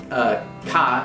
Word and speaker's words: 花: Cantonese and Mandarin, you'll also find words like hua, which means flower, and that's going to be pronounced ka if for the sound that's borrowed into Japanese,